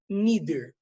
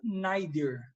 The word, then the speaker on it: neither: Me neither. Aí o neither é interessante, que tem duas pronúncias, tá? Neither ou neither. Tá? Americanos falam mais neither, o britânico fala mais neither.